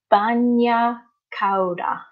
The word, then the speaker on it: bagna cauda: or Nutella I think cool I Francesca the pronunciation is bagna cauda and it is a sort of soup made